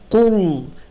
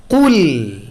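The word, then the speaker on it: قُلْ: আমরা অনেকে এভাবে পড়ি কুল, কুল, লাম মোটা। সো এটা থেকে সাবধান থাকতে হবে, বলতে হবে কুল। লাম বলার সময় একদম নর্মাল হয়ে যেতে হবে, বলতে হবে কুল, কুল, কুল।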